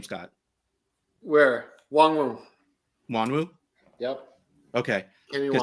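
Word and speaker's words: Nwangwu: Wongwu.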